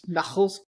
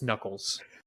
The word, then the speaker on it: Knuckles: And every time when he introduces her to Knuckles, she keeps pronouncing it as Knuckles. With an H, so Knuchles. Knuckles, yeah. And he's like, Mom, it's Knuckles.